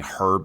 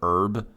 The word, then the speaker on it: herb: non cheeseburger brain of saying herb instead of herb. But because that that is genuinely, as I said earlier, something that I don't understand on why we decided to not have the pronunciation of the H.